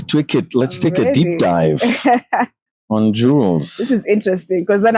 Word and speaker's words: Jullz: I my name is Juliet people call me Jewels my friends call me Jewels you call me